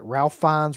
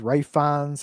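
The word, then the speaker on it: Ralph Fiennes: with um Ra Ralph, you say Ralph Fines. Ray Fines, I can never remember how you pronounce that guy's name. Ray Fines.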